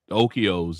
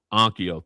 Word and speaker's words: Onkyo: Um outside of the outside of uh I can't pronounce it. Okos and stuff like that. Ano? Ankio, thank you.